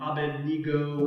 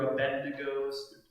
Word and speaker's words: Abednego: has to worship, and Shadrach and Meshach and Abednego, or Abednego, depending on how you want to pronounce it.